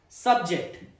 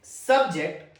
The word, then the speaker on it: subject: Sub, the first syllable is stressed. Subject.